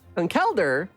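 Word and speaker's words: Conkeldurr: that I can do either and it's conceler con kelder is the way you pronounce it they say it in VGC tournaments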